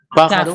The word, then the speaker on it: pájaro: ¿Dónde lleva tilde? La pa. En la A. ¿Qué tipo de palabra es? Brújula. Esdrújula. Muy bien.